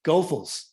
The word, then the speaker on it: Goethals: This is the old Goethals Bridge, and mind you, that is the correct pronunciation. It is Goethals.